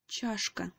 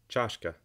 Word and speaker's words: чашка: which we've already learned so the word is pronounced Joschka Joschka Joschka she pronounced the word shashka you said it